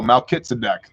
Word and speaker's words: Melchizedek: read them in english oh melchizedek that's his name that's how you pronounce that instead of like that